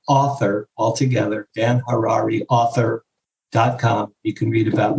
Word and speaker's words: Harary: Dan Harrari rhymes with Ferrari.